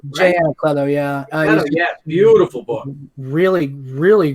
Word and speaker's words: Anacleto: Yeah, Brian Haverland and Jay Leto, or how do you say his last name? Jay Anacleto, yeah.